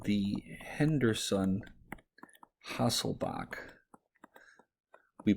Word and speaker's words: Hasselbalch: to what we're going to call the henderson hasselbach we pronounce it bach but it's spelled bulk equation